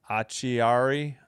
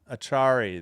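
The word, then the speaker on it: Acciari: Achiary? Achari? Achari, thank you.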